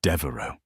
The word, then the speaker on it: Devereux: It's not Vance. It's Devereux.